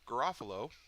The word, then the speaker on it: Garofalo: How come I can't pronounce her name? Garofalo.